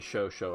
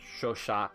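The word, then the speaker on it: Chauchat: American experience with the show show I think it's show shot or something in French but the Americans call it the show show it's spelled like ch 80 or something like that but the u.s.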